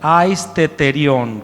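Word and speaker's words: αἰσθητήριον: Aisteterión, con una H después de la primera T.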